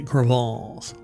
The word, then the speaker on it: crevasse: That's how it's pronounced. Like, no matter how Americanized you might be, you have to say crevasse.